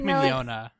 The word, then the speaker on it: Mignogna: It's Vic Mignogna.